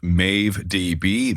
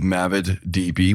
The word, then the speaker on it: MaveDB: He has an open source project called MaveDB, MavidDB. We'll figure out the pronunciation later, but he did just nod at Mave, so that's probably right.